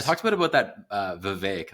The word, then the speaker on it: Vivek: I talked a bit about that Vivek. That's how you pronounce it, not Vivek. Vivek Ramaswamy. He's like, is it really? It's Vivek. He said it's like cake.